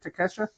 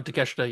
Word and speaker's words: Takeshita: How do you say it? Takesha? Yeah, Takeshita, yeah.